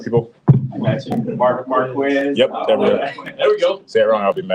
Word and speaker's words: Marquez: Don't say my name wrong, people. I got you. Marquez.